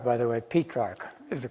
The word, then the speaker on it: Petrarch: wrote about petrarch as books on petrarch not petrock by the way P track is the correct pronunciation correct in the mean in English yeah people say Petra but it's not Patrick it's petrog but he's a terror I know